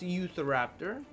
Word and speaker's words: Utahraptor: number 7, by the way, would be the, Eutheraptor, which, if you wanna, Google it up, it is spelled like Utah Raptor, but it's pronounced Eutheraptor.